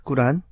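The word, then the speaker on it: قرآن: 금요일 이슬람 알아보는 시간입니다 꾸란 코란네 코란의 아랍어 발음은 꾸란이 그리고 또 마오메이 아르버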